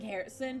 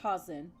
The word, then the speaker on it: Harrison: effervescent packet obtained listen i actually had to focus saying harrison because like i was about to say it like the way they said it in japanese when they say haasen like i heard that